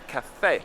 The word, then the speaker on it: caffè: that is cappuccino perfect keep in mind there's an accent on the end there cafe ah the sun